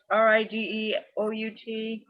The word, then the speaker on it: Rideout: Connie, this is Rideout, and it's spelled just the way it sounds, Rideout.